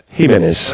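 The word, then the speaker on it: Giménez: hi Santiago could you give us the correct pronunciation of your surname so at least we know it once in all him menz okay thank you I wanted to ask you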